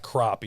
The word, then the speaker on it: crappie: So, they were black crappy. Uh some people say black crappie. Some people call them crappie, but dude, it's spelled with an a and I I'm saying crappy.